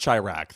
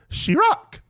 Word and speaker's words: Chirac: They mispronounced Chirac. They don't even know It's actually pronounced Chirac.